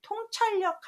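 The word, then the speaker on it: 洞察力: 밝을 통자는 통한다라고 해서 통찰력 할 때는 동찰력이라고 읽지 않고 통찰력이라고 읽고요.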